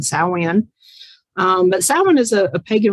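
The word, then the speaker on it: Samhain: say that we'll say champagne but it's actually pronounced salwin which is gaelic and that is um the proper pronunciation saoin but salmon is a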